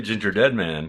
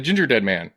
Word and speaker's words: Gingerdead Man: Ginger wait because because we always say ginger dead man yeah but it wouldn't you wouldn't say it that way you're right I did say it right the Gingerdead Man yeah yeah that's the